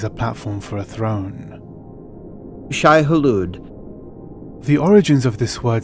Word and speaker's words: Shai-Hulud: be rooted in arabic frank herbert almost pronounces it in the arabic way he almost pronounces the second portion of the word the arabic way of pronouncing this would probably be in arabic would